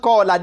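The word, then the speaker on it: قال: They do not need it in the writing before they will know that this should be called qala. This should be pronounced qala.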